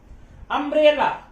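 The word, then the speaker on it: umbrella: अम्ब्रेला, यू को अ पढ़ रहे हैं, क्या लगाएंगे, एन लगाएंगे।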